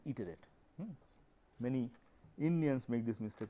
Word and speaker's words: iterate: Remember, this pronunciation is not iterate, its pronunciation is iterate.